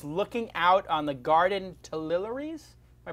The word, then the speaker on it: Tuileries: My room was looking out on the Garden Tuileries. Am I pronouncing it correctly? Tuileries.